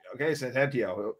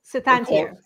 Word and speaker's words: Soetantyo: It's pronounced. I was really close to the Maisie. I got, but the right. Soetantyo. Soetantyo.